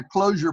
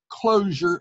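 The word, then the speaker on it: Clojure: to go back and brush up on my closure program and closure was one of the last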